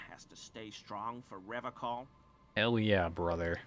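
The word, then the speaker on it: Revachol: to stay strong for rev call hell yeah brother he pronounces Revol with a hard K unlike other people serious question time this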